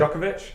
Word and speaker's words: Djokovic: I can't pronounce it. Djokovic?